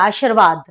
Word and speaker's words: आशीर्वाद: अगर आशीर्वाद में पूरा र होता तो इसका उच्चारण होता आशीर्वाद, आशीर्वाद, आशीर्वाद, आशीर्वाद हम बोलते हैं, आशीर्वाद, आशीर्वाद, पूरा र का उच्चारण नहीं है।